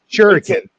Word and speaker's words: Shuriken: Shuriken. Oh, actually was the comical part. It's Kamiko. I always do that. But, man. Yeah, everybody pronounces it comico. But Shuriken, you pronounced that correctly.